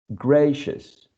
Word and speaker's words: gracious: Next one, gracious, gracious. Next one, nutritious, nutritious. Next one, portentous, portentous. So this cluster of vowels, right? I, O, U, in all of these words is reduced to a schwa.